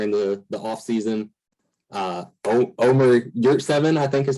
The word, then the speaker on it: Yurtseven: Omer Yurtseven, I think is how you say his last name.